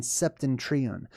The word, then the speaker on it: Septentrion: And he talks about passing between the Orient and Septentrion. Anytime you hear Septentrion or Septentrio or Septimtrio, it's pronounced and spelled differently on different maps.